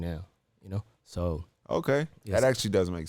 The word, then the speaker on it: Seoul: see it's like s-e-o-u-l yeah that's yeah it's pronounced as so Hyundai hongdae yeah that's like capital of like